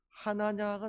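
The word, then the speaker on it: חנניה: 10절에 보시면 그때에 다메섹에 아나니아라 하는 제자가 있더니, 아나니아라는 이 단어는 이제 히브리어로는 하나냐가 됩니다. 하나냐. 발음이.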